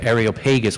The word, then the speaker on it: Areopagus: I practiced all week saying this word that Esther just nailed perfectly, and I cannot get it right, and I'm going to call it the Areopagus. She actually says the Areopagus, which is the right way to say it.